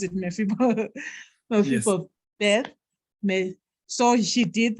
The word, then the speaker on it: Mephibosheth: How do you pronounce it? Mephibosheth.